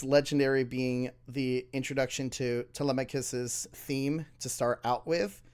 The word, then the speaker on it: Telemachus: Telemachus. No. Telemachus. Not Telecachus. Like I've always been doing.